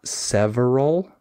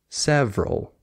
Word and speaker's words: several: it's just family like it's not several it's several you just skip the